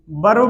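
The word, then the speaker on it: verb: और कभी कभी इन्हीं वर्ब्स को आपका मेन वर्ब बोल दिया जाएगा। ये वर्ब नहीं होता है, ये आर इसमें साइलेंट होता है, इसे बोलते हैं वर्ब, ठीक है।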